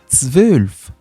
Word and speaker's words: zwölf: Nous avons zwölf. Zwölf. Le Z qui se prononce ts. TS combiné ts. Zwölf.